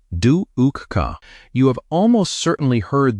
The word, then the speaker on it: dukkha: The first noble truth is dukkha, pronounced dukkha.